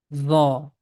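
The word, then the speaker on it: ظاء: The name of this letter is Dha. Tip of tongue is touching with the edges of frontal teeth, and the lips becomes in little bit O shape.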